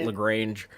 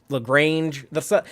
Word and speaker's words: Lagrange: Point, or Lagrange Point, as Tilly said it in this episode. But we ain't fancy enough to say it like that. We're going to say it Lagrange. In Texas, we have to just for the ZZ Top song. You gotta do like the long A.